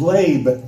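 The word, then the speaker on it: לב: The Hebrew word for heart is lab, L-E-B, but it's pronounced L-A-B-E.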